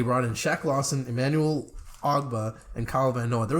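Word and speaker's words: Ogbah: They brought in Shaq Lawson, Emmanuel Ogba, and Kyle Van Noy. There was a time where I called him Ugba.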